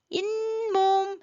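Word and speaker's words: 잇몸: 그 다음에는 이 몸 아니라 인몸 해서 인, 니은이 들어가죠.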